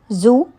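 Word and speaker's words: xū: The 6 sounds are Zu, pronounced like sh, shh, with a deep sigh, which is associated with the liver.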